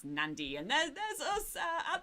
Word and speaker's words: Nadi: it i know uh the spelling is nadi so a lot of people think it's called nadi but you do pronounce it in fiji as nandi and then there's us